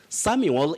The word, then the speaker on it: Samuel: samwell there's a reason why i'm saying that samuel is s-a-m-u-e-l samuel so and so but when you have m-w-e-l you now say samwell s-a-m-w e-l-samwell but when you have that uel you say samuel very tricky just like when we talk of